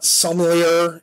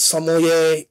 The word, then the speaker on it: sommelier: is a sommelier okay it's not somalia it's sommelier and saucy and it's